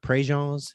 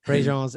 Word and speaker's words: Préjean's: and there's this place north of Lafayette, just north of Lafayette, called Préjean's. It's spelled pre-jeans for those of Okay. you. Yeah. Yeah, Préjean's.